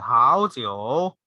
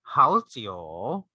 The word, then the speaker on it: 好酒: Instead of really like doing the 好酒, you can just do 好酒, 好酒. 好酒 is good wine.